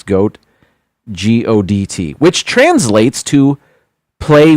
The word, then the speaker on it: godt: Leg, spelled like leg, L-E-G, and then the other word is goat, G-O-D-T, which translates to play well.